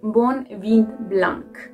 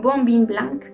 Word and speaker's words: bon vin blanc: Estoy segura que dijiste un bon vin blanc. ¡Coquini! Cosa que no se dice así, no es un bon vin blanc, sino un bon vin blanc.